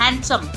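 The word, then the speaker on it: handsome: D silent हैंडसम हैंडसम नहीं बोलते इसे।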